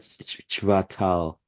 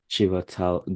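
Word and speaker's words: Chvátal: also have this is a bit difficult to pronounce but it's something like chatal chatal Gori cut chatal Gori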